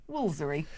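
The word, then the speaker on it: Woolfardisworthy: Apparently, it's pronounced Woolsery.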